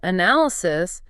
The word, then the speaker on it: analysis: But when we move to the noun form, analysis, the stress shifts backward. Right, it moves to the second syllable, Aye. A-N-A-L-E. The first A becomes very soft, almost a quick breath, and the power hits the N-A-L.